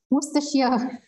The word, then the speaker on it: Worcestershire: Melissa, can you pronounce the name again? I always struggle. Worcestershire.